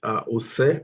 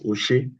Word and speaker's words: Ose: Thank you so very much, Ose. I was almost pronouncing the name as Oshe, but when you mentioned it, I quickly picked the correct way to pronounce the name.